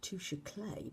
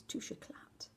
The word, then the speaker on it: Touche Éclat: I've been pronouncing this the wrong way. I thought it was touche clay, but apparently it's touche éclat, which to me just doesn't sound quite right, but you go with what you're told.